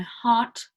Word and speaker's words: heart: So that one, the R is silent as well.